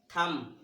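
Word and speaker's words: thumb: इसको थम, थम।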